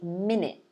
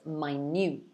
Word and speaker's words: minute: two words again so the first one is minute the second one is minute so pronunciation is different spelling is the same so